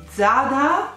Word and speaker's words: Zara: internet dicono di no praticamente zara è sbagliato e si dovrebbe pronunciare zarra con l'ati giada perché il dialetto castigliano del nord le z si pronunciano con un suono tipo th quindi vada è difficilissimo come